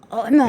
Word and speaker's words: 오만: 오만은 참 오만하다 그러는데 그 오만을 할 때 오만이 그 발음은 아니고요. 네. 오만입니다. 오만. 어만. 네, 오만. 그게 그거 같은데요? 아예 달라요. 이게 목에 힘이 들어가야 돼요.